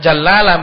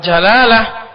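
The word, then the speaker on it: الجلالة: wafzi al al jalalati jangan jallalah bacanya kalau jallalah adalah hewan yang pemakan najis kalau jalalah lafzul jalalah adalah Allah subhanahu wa taala lafaz jalalah lafaz kemuliaan min ismi bukan ismin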